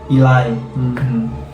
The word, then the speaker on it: Eli: nulis nama Eli kan, nama dia teh Eli guys, E-L-I gitu kan Dibacanya Ilai.